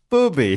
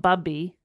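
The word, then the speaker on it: Bubi: And I'm like, William, Booby. Booby. So Philipson is her booby. How's that spelt? B-U-B-I. Booby. Booby. I'm assuming that's how you'd spell it, right? Yeah. It's not Bubby. No. Booby.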